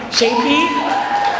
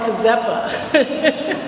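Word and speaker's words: Czepa: So the first person I'm speaking for is Shapey. Her name is spelled C-Z-E-P-A. and I always want to call her Kazepa.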